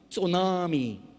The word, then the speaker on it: tsunami: a brand new word it starts with a T but it you don't pronounce the T so Nami tsunami is that it the